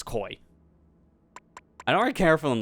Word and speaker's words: koi: and the koi suit koi I can never say it right I don't know why it's just like something in my brains like koi suit but my brain always wants to go Kawaii like how it's spelled but just it's koi I don't care for